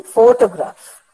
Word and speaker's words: photograph: See, photograph. There the stress is upon the first syllable, photograph.